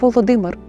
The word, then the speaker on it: Володимир: відрізняють її від сусідніх ім'я творця держава Русь писали та вимовляли як Володимир натомість сучасний російський варіант влодимир походить із штучної церковнослов'янської мови Отож сьогодні виборюючи жити